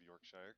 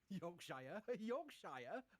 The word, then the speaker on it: Yorkshire: Spaceflight, joining us from the People's Republic of Yorkshire. Chris, how are you? Yorkshire. Yorkshire. How do I tell me how to pronounce it?